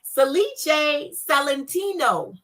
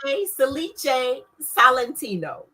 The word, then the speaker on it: Salice Salentino: So it is pronounced Salice Salente. Salice Salente. Wait a minute, let me say that over. Salice Salentino. Okay, yeah, okay. Salice, she's getting tongue tied. That's all right. Salice Salentino.